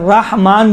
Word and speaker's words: رحمان: دیکھیں بسم اللہ میں بسم اللہ الرحمن بھی صحیح ہے, رحمان بھی صحیح ہے.